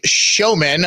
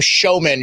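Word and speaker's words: Schoemann: But it's pronounced like The Greatest Showman.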